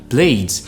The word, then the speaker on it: played: Dans tous les autres cas qui restent, vous prononcez D. À l'exemple de play que j'avais donné, ça devient played.